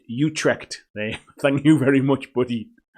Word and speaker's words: Utrecht: It's pronounced Utrecht.